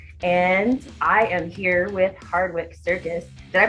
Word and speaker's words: Hardwicke Circus: rock news uk and i am here with hardwick circus did i pronounce that right that's right we've had a hardwood castle before and that's definitely incorrect why don't you